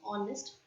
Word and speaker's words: honest: before it we say an Auburn and an honest person I hope this is also clear to